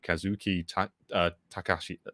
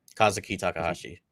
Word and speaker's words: Kazuki Takahashi: was sad vibes, but rest in peace to Kazuki Takashi." Sorry, I haven't said this out loud before. You guys might pronounce that better than me. Kazuki Takahashi.